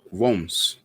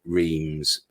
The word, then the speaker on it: Reims: But nearby also, there's a place called Reims. Now, that's how you pronounce it, but most people call it Reims. It's Reims. It's Reims.